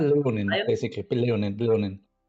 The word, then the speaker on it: Leonin: Leonin. Leon would be with an I, but it's with an E. Leonin.